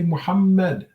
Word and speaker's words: Muhammad: remind everyone to say muhammad okay the h sound is has a lot of breath to it and it comes from here comes from the middle of the throat down like the adam's apple